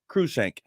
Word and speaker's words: Cruikshank: It's called the United States versus Cruikshank. Is that how you pronounce it? Cruikshank. Cruikshank. I bet Cruikshank. Cruikshank.